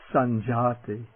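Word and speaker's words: sañjāti: word for knowledge but this palatal nasal also precedes sometimes precedes a palatal consonant like the chi and then one doesn't try to pronounce it with that wiggle sound in it but it comes out sounding just like an ordinary and for example a word meaning to travel around or a word meaning birth or production sanjati sanjati the retroflex t this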